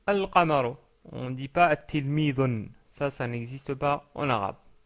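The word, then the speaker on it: التلميذ: connaissez, c'est un élève, on rajoute le L et ça devient at-tilmidu. At-tilmidu.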